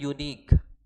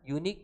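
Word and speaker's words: unique: एक और बात बताओ तो, हम बोलते हैं यूनिक, ये पहले भी मैंने बताया, यूनिक पे भी यू क्या है? यू वॉवेल है, लेकिन इसका उच्चारण क्या आ रहा है?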